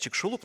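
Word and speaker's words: Чиксулуб: Там находится 180-километровый кратер, который называется Чиксулуп. Ну, или как сейчас правильно говорить, Чикшулуп, но я так, ладно, старая школа.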